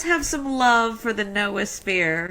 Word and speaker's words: noosphere: Why not call it KNOW sphere, noosphere? Yes. And that really is the Greek word knowing is to know. So noosphere really is KNOW sphere.